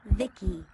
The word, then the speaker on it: VICI: By the way, I'm VICI, pronounced Vicky.